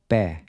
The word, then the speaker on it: pé: The next word is pé. This is an open E. Pé. Notice how open your mouth is when you say it.